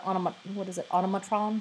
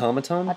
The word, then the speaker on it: automaton: To not be an Autobot or an automatron? Is that how you say it? Automaton? Yes, that automaton. Like, it's like saying see an enemy.